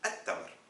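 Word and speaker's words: التمر: C'est évident qu'on dit at-tamr. On n'a pas prononcé le al.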